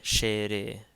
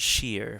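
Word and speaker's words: ⲭⲉⲣⲉ: So this one is shere, shere. Again, in Coptic we pronounce every syllable. So this wouldn't be like English. It's not sheer, for instance. It's shere.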